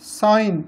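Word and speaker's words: sign: ई साइन, इसी तरह एस आई जी एन साइन, ये भी साइन है, इसमें जी साइलेंट है और साउंड वही है अलिफ मत आ हमज़ा ये ई आई।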